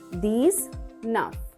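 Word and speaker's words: dix-neuf: These nuff.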